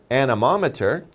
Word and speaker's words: anemometer: Well, let's spell it out here. A-N-E-M-O-M-E-T-E-R.